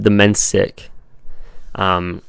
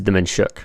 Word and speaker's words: Domencic: My last name is pronounced Demensic. If you're like, the Croatian pronunciation is Demenshuk, like, or Demenshish, I think it is.